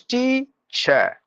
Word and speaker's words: teacher: that that is that any word ends the letter R you have to mute